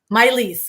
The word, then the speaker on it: Mai-Liis: me how do i say your name my miley's okay thank you i didn't want to i didn't want to mispronounce that but same with yourself you talked